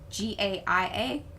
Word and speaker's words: Gaia: name anyway uh guia g-a-i-a goddess of nature and earth g eu well it's pronounced g-u-y a-h but yeah yeah k-a-i-a